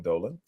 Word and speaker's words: Dolan: Speaking about the Knicks in 5, James Dolan, I think that's how you pronounce his name, Dolan.